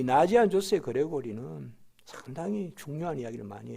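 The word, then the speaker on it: Ναζιανζός: 그 중에서 나지안 주스 혹은 나지안 조스라고 하는데 헬라어로 나지안 조스라고 읽어요. 그러니까 나지안 조스의 그레고리 우리우스를 그 신학자라고 불러요.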